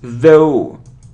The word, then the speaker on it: though: good so next so it isn't the it isn't th it's though theth the it is though though though is theth the it's though okay it isn't obesity it